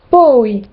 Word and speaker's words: poi: Et toutes les voyelles se prononcent séparément, comme dans Laura, Laura, jamais, mai, puis, poi.